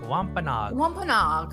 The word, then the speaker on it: Wampanoag: Did I say? Yeah, you said it right. Wampanoag.